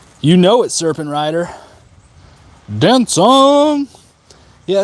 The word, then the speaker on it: Dan Cong: know it serpent Rider Dan song yeah it's pronounced like dance song that that c makes a s sound but yeah love Ling